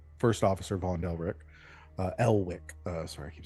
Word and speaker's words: Elwick: Um, so the two that you saw were um the first officer, Von Delick, uh, Elwick. Uh, sorry, I keep saying Elrich.